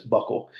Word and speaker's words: buccal: U CC a l it looks like some weird foreign name but it's Buckle I had to ask